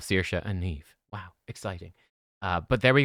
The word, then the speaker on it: Neve: And by the way, how you pronounce it is like leave or weave, right?